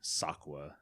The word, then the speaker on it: Sokwa: that moment yeah so i added an a so that way i could i could tell people it's pronounced this way sakua and uh i kept